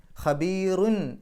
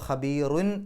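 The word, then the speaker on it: خَبِيرٌ: ഖബീറുൻ എന്നുള്ളതിൻ്റെ അവസാനത്തിൽ തെൻവീനുണ്ട്, അതിനുശേഷം വരുന്ന അക്ഷരം ബ ആണ്. ബാഇൻ്റെ മുമ്പ് തെൻവീന് കണ്ടാൽ ആ തെൻവീനിൻ്റെ നൂനിൻ്റെ ശബ്ദത്തെ മീമിൻ്റെ ശബ്ദമാക്കി മാറ്റിമറിക്കണം.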